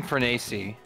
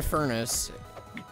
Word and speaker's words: Dan Fornes: I thought it was Dan Farnese. Or am I pronouncing that wrong? No, it's Dan Furnace.